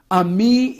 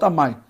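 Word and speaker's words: עמי: Ammi is my people, not Amai. I said it wrong.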